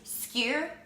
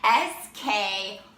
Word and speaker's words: skyr: It's skyr, S-K-Y-R, Icelandic skyr.